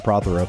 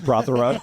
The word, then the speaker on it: Prothero: Pastor Jonathan Prothero. Yes. And we have a special guest with us today, the father of the great Jonathan Prothero. We also know him as P3, Pastor Peter Prothero.